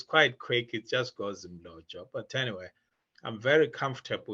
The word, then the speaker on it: Mlotshwa: So it is Mlotshwa. So Mlotshwa, that's how you say it. So you try and pronounce what you see. So that's what I always say. So if you see an M, try and sound it.